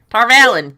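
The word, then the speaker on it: Tar Valon: we do r valen tarvallen it looks like tar valley to me but apparently if you look up the things it says tarvallen but i say it like a sean chan might it's almost like matt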